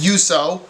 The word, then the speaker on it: Juuso: Juuso Parssinen, I figured out the pronunciation. It is Juuso.